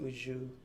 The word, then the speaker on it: au jus: style gravy bistro ushoo this is pronounced ujju sauce and and how i